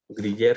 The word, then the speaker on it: griller: Griller se escribe, se pronuncia griller.